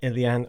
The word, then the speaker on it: Uilleann: up the pronunciation so I do know it Ilion or ilian or some abbreviation of that uh it's quite deceptive I think I don't